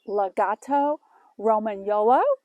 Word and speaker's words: Lagotto Romagnolo: a italian water dog it is pronounced a legato roman yolo he is uh adept